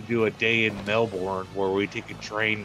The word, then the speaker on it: Melbourne: I think the pronunciation of that is Melbourne.